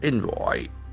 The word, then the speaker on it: envoy: Ukraine keen on India joining the Swiss peace process, says envoy. ENVOY. It's a beautiful word. It will act as a noun. Envoy. Envoy. The accent for the first syllable, envoy. Someone who is sent as a representative of one government, envoy.